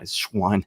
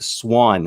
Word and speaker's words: Swann: announced for the event russell rich schwann as new schwann i got it swann i gotta learn how to pronounce that properly rich schwann uh defending